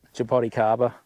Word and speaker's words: jaboticaba: I said, pronounce that. Jaboticaba. Yeah, that's what I thought. Yeah. Yeah. Yeah. See, these trees are good. Once that Jaboticaba gets big, it'll turn into more of an emergent.